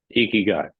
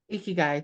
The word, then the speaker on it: ikigai: uh I'm going to I'm going to Mis pronounce this uh Joe help eeky guy eeky guy thank you um so up next we have